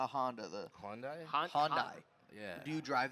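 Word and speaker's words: Hyundai: three chill chill name we got my young Honda I don't know why but I feel like he's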